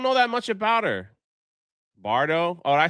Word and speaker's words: Bardot: Bardo?